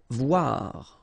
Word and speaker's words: voir: Voir. Okay, same thing here. O-I, WA, voir.